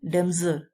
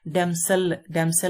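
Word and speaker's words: damsel: Next है डेमजल। इसका जो प्रोनाउंसिएशन है वो डेमजल है। दिखने में ये डेमसल लग रहा है, लेकिन डेमजल है, ज की साउंड आ रही है, डेमजल।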